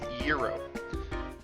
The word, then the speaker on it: gyro: Yeah, it looks like gyro, but the way you pronounce it is gyro.